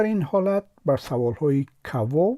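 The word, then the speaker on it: кого: اسم در این حالت بر سوال های کوا و چیوا یعنی کی و چی جواب می دهد. توجه کنید که کاگا می نویسیم اما کوا تلفظ می کنیم و چگو می نویسیم ولی چیوا تلفظ می کنیم.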